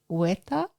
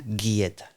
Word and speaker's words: guieta: So I assume that it was like more of a hueta. Okay. Yeah. It's like guitarra. Guitarra. G-U-I. Yeah. Guieta.